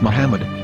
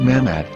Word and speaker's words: Muhammad: Ben yehuda's Hebrew English dictionary it is correctly pronounced as Muhammad not mammad so how we're going to know for sure